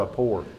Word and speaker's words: rapport: that i don't understand like rapport yeah it's only two syllables um so if you